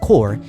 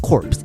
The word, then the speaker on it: corps: c o r PS is pronounced core and not corpse and that's because that